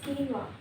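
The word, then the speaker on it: quinoa: salmon सालन pizza no pizza pizza pizza almond no this is almond Q this is कीनवा कीनवा ब्रूसिटा no this is ब्रूस्केटा ब्रूस्केटा एक्स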